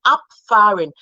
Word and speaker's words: abfahren: So when you have the B, it sounds like P when between a vowel and a consonant. So whenever you have that, you have abfahren. Instead of ab, it's not ab, abfahren. Okay, okay.